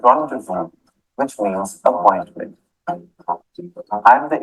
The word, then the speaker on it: rendezvous: Z as in rendezvous, which means appointment.